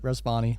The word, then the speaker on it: Rezvani: This is called and I don't know how to pronounce a Rezvani Tank. You nailed it, Rezvani.